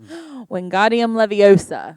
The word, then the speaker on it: Wingardium Leviosa: Yeah, just Wingardium Leviosa.